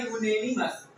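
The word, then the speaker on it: unanimous: इसका प्रोनाउंस होता है यूनेिमस।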